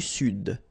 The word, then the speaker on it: Sud: L'Amérique du Sud. Here you should pronounce the D.